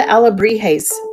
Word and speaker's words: alebrije: But I kept asking, where are the alebrijes? And they were looking at me. It's actually pronounced alebrije. And I was saying it wrong.